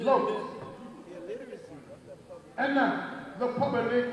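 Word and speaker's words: Loosk: Loose. Los. Okay, see what I tell you? L-O-O-S-K. You pronounce it. Los.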